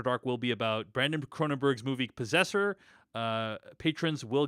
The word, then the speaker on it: Cronenberg: will be about Brandon cronenberg's movie possessor uh patrons will get that episode first so check cron cronberg I think is they pronunce cran cranberg cranberg right um next week on